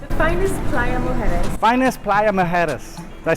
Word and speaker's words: Playa Mujeres: Finest Playa Mujeres.